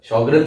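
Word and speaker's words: Sjögren: इसकी स्पेलिंग थोड़ी सी अजीब सी है, ये जे की जैसे नहीं, एच की जैसे प्रोनाउंस होता है।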